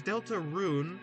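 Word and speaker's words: Deltarune: So, there's Delta Rune, which is like uh like how it's spelled. It's Delta and rune as in like, you know, a rune like sort of a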